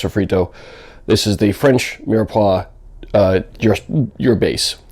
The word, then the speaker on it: mirepoix: pretty much everything uh mirepoix or mirepoix or definitely not mira poix even though it's spelled that way it is a french word mirepoix basically means you're